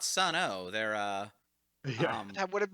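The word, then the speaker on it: Sunn O))): I mean, Anyway, they're not Sun O. They're Yeah. That would have been probably a more interesting critical listen. and yes, metal fans, I know Sun O isn't actually, you don't pronounce the O, but look, these are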